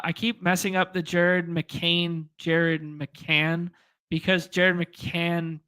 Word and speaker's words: Jared McCain: well we could do Jared mccan with uh uh did I say it wrong again yeah Jared McCain Jared McCain it's because there's a